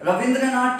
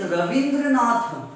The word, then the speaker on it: Rabindranath: And it is Rabindranath. But in Bengal, Va is pronounced as Ba. So they say Rabindranath.